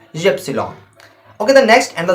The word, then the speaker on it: Ypsilon: Okay, the next word is, and the second last word is Y, and in German we said Ypsilon. Y as Ypsilon.